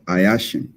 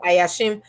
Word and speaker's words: Ayashim: to mess it up you can just pronounce it as it is spelled ayashin i hatch him see i was gonna say i ashamed so i asked him